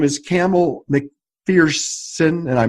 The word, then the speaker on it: Campbell Macpherson: His name is Campbell Macpherson, and I mispronounced it, so please pronounce it correctly. Campbell Macpherson.